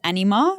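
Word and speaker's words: Anyma: Um I will say one um honorable mention was is it Anima?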